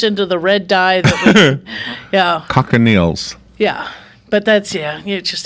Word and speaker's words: cochineal: It's cochineal.